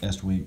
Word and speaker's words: Estwing: they advertise usa estwing it's pronounced estwing this is the leather